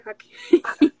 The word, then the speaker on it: Jake: se llama Jaque Mate, así como que el juego, pero yo no sabía escribir Jaque, entonces se llama Jake, pero se pronuncia Jaque.